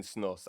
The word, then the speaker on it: snus: Now, Lewis, first of all, is it white snooze? How do you say it? All right. I've been saying snus, and everyone I've spoken to so far has said snus, but quite often I